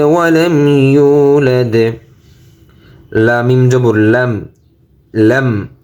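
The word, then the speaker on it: يُولَدْ: ইয়া পেশ ইউ, ইউ। ওয়াওতে Mughal হবে ইউ। লাম দাল জবর লাদ, ইউলাদ ইউলাদ।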